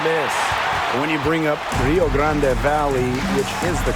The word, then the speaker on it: Rio Grande Valley: When you bring up Rio Grande Valley, which is the correct pronunciation.